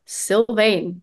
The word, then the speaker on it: Sylvaine: Facebook syan music they're all syane music yeah syane that's how you pronounce it exactly you were so entertained that